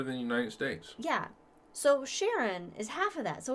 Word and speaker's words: Charon: his wife uh charlotte sharon i thought it was it's named after the boatman to the underworld oh yes so but so it's that's how it's pronounced with the sh the but yes no